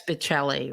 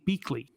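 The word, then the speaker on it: Biechele: That's Bicelli, right? They pronounced his name Beakley.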